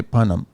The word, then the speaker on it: Punam: There is no H in there though. It's spelled Papa Uniform November Alpha Mike. Oh, I'm sorry. Okay, how did I? A.M. Okay, Punam.